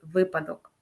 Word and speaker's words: випадок: вже почули що правильно правильною відповіддю на перший склад наголос падає у слові випадок фаховий Володимирський фаховий педагогічний